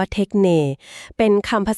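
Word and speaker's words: τέχνη: อะไร กัน แน่ ค่ะ เทคเน หรือ เทคนี นะ คะ อ่าน ว่า เทคเน กรีก โบราณ ค่ะ ความ หมาย มัน ลึก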